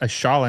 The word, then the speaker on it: Ayala: Curious why it's pronounced Ashala instead of Ayala. I'm surprised. I know that the Argentinian last name, sometimes double L can be like a sh sound.